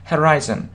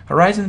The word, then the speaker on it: horizon: Horizon. Horizon переводится как горизонт.